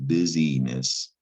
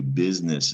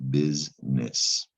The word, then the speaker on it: business: the noun business and it's not pronounced busyness although that's a word to business is the more common word and you just hear business all right not to